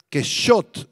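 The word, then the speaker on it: קשט: verdad esta palabra verdad que Shot en el arameo que Shot con acento en la o significa fidelidad o una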